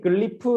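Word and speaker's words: glyph: 입니다 하실 정확하게 왜냐면 아닌가 예 아까 말했듯이 글리프 라고 하는 마음에 지혜를 y tag 라고 하는 에요 단어를 그냥 한 발음으로 평일을 해 놓은 건데 기호 4 이제 많이들 클리프 라고 많이들 헤어 실제로 영어 책에서도 우리나라 번역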